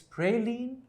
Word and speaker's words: praline: up Prine Prine Prine no it's not Prine it's praline or Prine and what does it